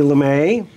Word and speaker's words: Lamy: Anyway, I would like to thank my guest, Lamy. It's Lamy.